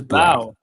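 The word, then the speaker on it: Blough: I think it's Blau. Hold on, let me look it up. Pronunciation. The Blau. It is Blau. Blau. Blau. Yeah, like cow.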